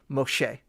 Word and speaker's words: Moshe: finex there and then the last letter A hey basically is kind of like a a rough breathing it kind of carries the vowel sound so in this way a person could read this and say Moshe right now we don't